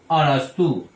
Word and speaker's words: अरस्तु: को कहा गया है, लेकिन जरा स्पेलिंग देखिए ARISTOTLE। अगर इसको देखें तो एरिस्टोटल लगता है, लेकिन यह है क्या चीज? अरस्तु।